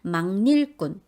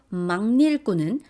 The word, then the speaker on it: 막일꾼: 특히 요 막일꾼은 막일꾼으로 발음하지 않도록 주의하셔야 돼요. 여기는 니은 첨가가 일어나거든요. 그리고 그 첨가된 니은이 앞에 오는 기억을 이응으로 바꾸는 비음화 현상이 일어나서 막일꾼이라고 발음하는 게 맞습니다.